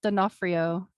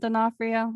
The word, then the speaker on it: D'Onofrio: name that's my stepdad it's dinofrio like the actor vincent d'onofrio i don't think they're